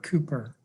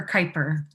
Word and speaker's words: Kuiper: Cooper, and am I pronouncing that correctly? It's very close. It's Kuiper. Kuiper. That's not even close.